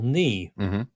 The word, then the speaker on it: knee: Like for the way we spell knee. With a silent K, don't we?